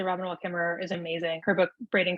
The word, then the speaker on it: Robin Wall Kimmerer: Is it Robin Wall Kimmerer? That's correct. Yeah, that's how you pronounce it.